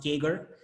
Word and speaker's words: CAGR: have probably heard of called the CAGR sometimes it's just pronounced kegger and it stands for compound annual growth rate so we're gonna discuss